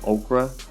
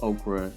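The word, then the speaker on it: ochre: we use a detail yellow okra I'm a spell it just in case i pronounced it wrong it's OCH r e and this particular yellow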